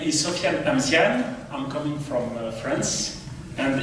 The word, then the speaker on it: Sofiane Amziane: Your pronunciation is perfect. My name is Sofiane Amziane.